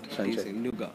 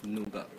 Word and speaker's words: Nougat: that the Android 7.0 Nougat brings with the phone, then you go with the How do you say it? Nougat. Nougat. Nougat. Nougat. The T is silent. Nougat.